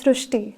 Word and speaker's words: Srushti: So in Marathi, the word Ri is pronounced as Ru. So that is why the pronunciation goes Srishti.